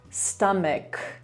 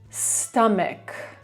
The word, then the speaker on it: stomach: Kolejne słowo, które ma końcówkę ch i nas to bardzo, bardzo wyprowadza z równowagi. Stamek. Stamek, czyli brzuch.